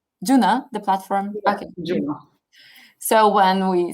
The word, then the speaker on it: JUNO: and maybe do we do you pronounce yunna or juno how is it german juno the platform so when